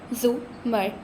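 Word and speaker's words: زُمر: تھی۔ اس نے البتہ زمر کا نام غلط تلفظ سے بولا تھا، رے کے اوپر زبر کے ساتھ۔ اف، اٹس زمر، زو مر، زے کے اوپر پیش ہے، اس نے توڑ توڑ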